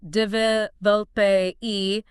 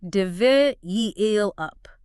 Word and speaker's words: develop: You'll often hear people say develop with the emphasis on the last part, but the correct way is develop with the stress on the second syllable.